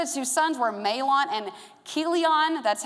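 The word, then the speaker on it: Chilion: The names of the two sons were Melon and Keelion. That's how you say his name. Just like a K at the beginning.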